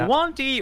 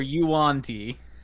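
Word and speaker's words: yuan-ti: Is it Wanty or Yuanti? I thought it was you, auntie, like your auntie. So I've been saying it wrong this whole time.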